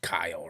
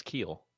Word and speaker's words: Keel: Oh, you know that's pronounced Kyle, right? No, it's Keel. No, I know you and I both know that, but you know that's somebody's spelling of Kyle.